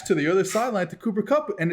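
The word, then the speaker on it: Cooper Kupp: tweeted this earlier cooper cup and college uh pronounce it properly cooper cup and kyle use check play the same position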